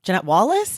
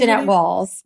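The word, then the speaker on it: Jeannette Walls: So you said your comps, Janette Wall, Janette Wallace, is that how you say it? Janette Walls.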